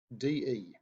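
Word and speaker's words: 的: okay so this this character is pronounced da de no time it's a neutral time all right so if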